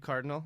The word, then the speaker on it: Kyrdynal: will do it well my name is cardinal that's pronounced spell k-a-r-d-y-n-a-l yeah that's weird so just